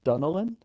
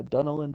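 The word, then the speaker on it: Dunnellon: the nearby town of we say it's dunan right dun pronounce it yeah dunan Florida um and then when the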